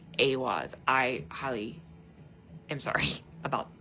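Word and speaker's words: Ehwaz: Remember I told you I was like, "Oh, we're going to talk about Ewas." The fertility rune. Yeah. I'm so sorry. Um, pronunciation is aw, but it's spelled E I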